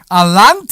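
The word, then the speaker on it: Allanté: and it's an '83 Alante with the V8 North Star engine. North Star. The North Star. Of course. And how do you say the car? Alante. Right, Alante.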